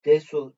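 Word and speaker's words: です: Burada da yazdığım gibi desu diye yazılıyor ama Des şeklinde telaffuz ediliyor fiil en sonundaki da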